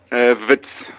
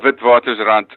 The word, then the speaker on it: Witwatersrand: Wits. Just Witwatersrand. But how do you pronounce the full name? Oh, Witwatersrand.